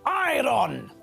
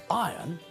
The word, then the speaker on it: iron: the word iron as iron this is wrong the word is spelled I are o n when we pronounce the word we don't pronounce the letter R when we say iron it sounds exactly the